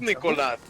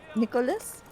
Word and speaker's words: Nicolas: Okay, yeah, so it's Nicolas. Will you? Can you say it like that, Nicolas? Nicholas?